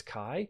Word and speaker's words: chi: at those letters and pronounce them ch, that's not what they are, it's chi, and some of you